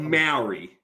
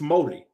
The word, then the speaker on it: Māori: So it's not Maori. It's Māori. So you're saying the word that I would say pronounced as Maori in English?